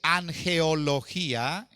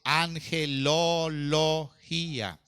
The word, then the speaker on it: angelología: la neumática cabe la angelología angelología esa es otra disciplina bíblica no se dice an geología sería incorrecto se dice angelología la doctrina que estudia